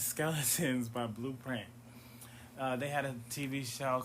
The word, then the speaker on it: BLUPRINT: The name is Blueprint. It's spelled BLUPRINT.